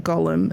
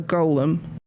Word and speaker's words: golem: how this is pronounced i hear so many people saying gollum is in like lord of the rings when it's a golem let's go lem not garland continue uh yeah i